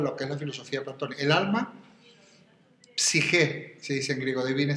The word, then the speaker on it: psique: El alma, psique, se dice en griego, divine psiquis, ¿no? Se escribe así como P-S-I-J-E o C-H-E, da igual. Que la G la traducen algunos como CH, pero se pronuncia como J, o como directamente, es